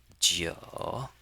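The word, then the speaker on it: 九: And we pronounce it as Joe.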